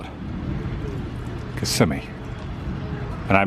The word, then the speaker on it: Kissimmee: flag at the top now the way you pronounce this area is Kissimmee now you can always tell when someone just recently moved here or they're a tourist and they say Kissimmee but the locals call it Kissimmee and I mispronounced things all the time when